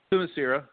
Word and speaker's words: Themyscira: Themyscira. Themyscira. Okay, that makes sense. I kept messing that. I misplaced the I every single time.